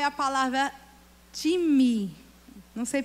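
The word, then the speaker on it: τιμή: que é honra no original é a palavra time não sei pronunciar direito é tm é metais me nem a time no original se pronuncia time e significa valorização desvalorização de apreciação e estima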